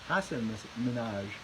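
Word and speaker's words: Hasan Minhaj: yes of course and he pronounced his name Hassan Hassan Minaj and I always call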